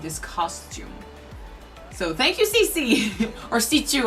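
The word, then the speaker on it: C.C.: So thank you, CC or C2. Apparently it's pronounced C2, but it's really hard to reprogram our way of saying things. So it might stay CC.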